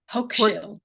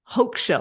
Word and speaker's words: Hochschild: I might butcher this name, but it's from a sociologist, Arlie Hochschild. Hochschild. I would have definitely Hochschild.